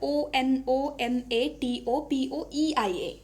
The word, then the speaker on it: onomatopoeia: Okay, onomatopoeia, इसका spelling क्या होता है, ONOMATOPOEIA. Okay, onomatopoeia ऐसे pronounce करोगे.